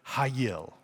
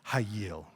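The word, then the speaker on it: חיל: It's the Hebrew word hayil. It sounds like a karate chop to me, hayil.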